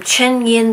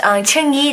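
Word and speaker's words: Chengyin: She marries Chen Yin that day. I always get his name wrong. I'm so used to just calling him Gu Xiaowu, but she marries Cheng Yi that day, and at the same time, you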